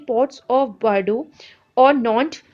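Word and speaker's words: Nantes: आपके इलाके यहाँ पे मेंशन किए बेडो और नॉन्ट, ठीक है, इसको इसी तरह से प्रोनाउंस करते हैं इन वर्ड्स को, और आप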